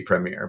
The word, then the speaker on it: Premier: we should pre it's like it should be Premier but like we don't have there's no chance